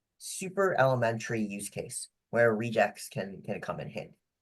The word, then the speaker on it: regex: outlined the main principle behind rejects or reax, but I'll use what I like to call the correct pronunciation uh of rejects, but you're welcome to disagree.